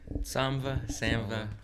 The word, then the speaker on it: Samva: it pronounced Samva or Samva? Samva.